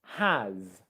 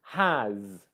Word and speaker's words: has: It's a Z sound, z, has, and not has. Okay? And a common thing that catches people out is the fact that in English it's spelt like an S, but it's pronounced like a Z.